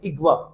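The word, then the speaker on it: اغوا: जैसे किसी को बोलते हैं किडनैप किया, इट इज नॉट अगवा, इट इज इगवा।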